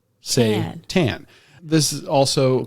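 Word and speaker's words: seitan: my first time eating satan satan not satan again not the prince of darkness say tan this is also called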